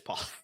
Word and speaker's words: Pollard: Is Pollard? Yeah, it is Pollard.